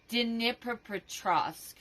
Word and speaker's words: Dnipropetrovsk: Dnipropetrovsk. That's how it's pronounced.